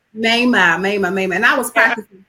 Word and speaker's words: Maimah: Maimah. Maimah.